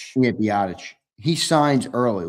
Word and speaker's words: Rapp: Taylor Rapp or however you say his name Rapp. Yeah, Rapp.